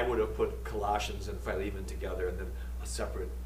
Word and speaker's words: Philemon: The person addressed, and I call him Philemon, that's the Greek pronunciation. People say Philemon, that's fine too. You know, is it Paris or is it Paris? Well, yes, the answer is yes. So if I say Philemon, don't freak out on me. And don't feel you got to use the same name, the same pronunciation.